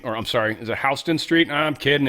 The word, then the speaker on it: Houston Street: I was on the subway and they were like Hston Street. And I'm like, "The dude just mispronounced Houston." What? How weird is that? And then he said it again. I'm like, "That's not mispronounced. That's That's how they pronounce it."